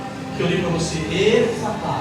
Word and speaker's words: Efatá: eu li para você, Efatá. Em hebraico é Epatá. É o mesmo som, Epatá.